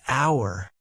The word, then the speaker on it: hour: Lily asked, "What about hour?" Her mom said, "It's an hour because it starts with a vowel sound."